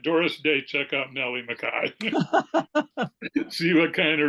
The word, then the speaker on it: McKay: made a joke about how everyone mispronounces her name because it looks like it should be McKay but nope it's Makai that's what it sounds like fun yeah how should